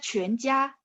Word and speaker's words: 全: 全 bacanya mulutnya dibulatin. 全. Masih ingat 全家? 全家. Nah, ini 全nya sama.